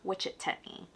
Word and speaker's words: Wichetney: So, my name means lady who loves wisdom and it's actually pronounced in Kamai. If you spell it in Kai, it's pronounced witch techni.